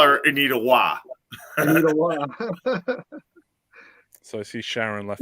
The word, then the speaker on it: Roy: and they're the goalie Patrick Waugh, his last name is spelled ROY. Yep.